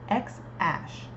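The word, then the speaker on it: X Æ: On a podcast, Musk said that the first part is pronounced X-ash, with X read like the letter.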